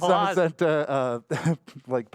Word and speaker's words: Zamazenta: Zacian and Zamazenta, Pokemon-themed Switch here.